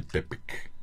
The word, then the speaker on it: Tepetl: Entonces los españoles transforman el Tepetl, ¿no? Ujú. Que no lo podían pronunciar bien, entonces le quitan la TL y le ponen una C, un sonido Como K, ¿no?